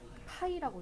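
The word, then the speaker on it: π: 기호 얘를 뭐라고 읽는다? 파이라고 읽어. 파이.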